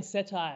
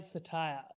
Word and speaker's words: Cettire: spoke to the management i was saying setai apparently satire uh which i found